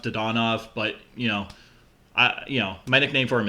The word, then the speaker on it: Dadonov: I think Dadonov would have some value. I don't know if you get a first-round pick in exchange for Dadonov. Probably not. I call him Dadonov. I think it's pronounced Dodonov, but my nickname for